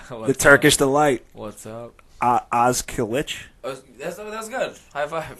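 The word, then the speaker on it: Özkılıç: Pronounce it again for me. Ozkilic.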